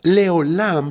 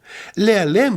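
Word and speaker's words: לעולם: La frase, este es mi nombre para siempre, se pronuncia en hebreo, Sheshemi Leolam. Ahora, Leolam significa por siempre, pero también podría leerse como Sheshemi Lealem. Lealem significa oculto.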